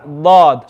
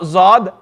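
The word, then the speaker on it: ض: the sound lord so not zod lord lord curl your tongue because when you curl your tongue listen very carefully when you curl your tongue you can hear that fatness lord can hear it lord it sounds it sounds very rich lord that's the makraj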